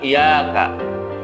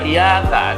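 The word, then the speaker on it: إِيَّاكَ: seperti ini, iyyaka, iyyaka, bukan iyyaka, bukan huwa, bukan tawwaba, tapi dibaca iyyaka. Ini pada surah Al-Fatihah ya. Kalau kita baca iyyaka itu salah jali itu. Kenapa? Seakan-akan merubah tasydid atau menghilangkan harokat tasydid. Cara baca dinabarkan iyyaka, iyyaka.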